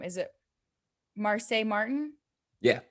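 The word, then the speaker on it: Marsai Martin: Is it Marseille Martin? Yeah, Marseille Martin.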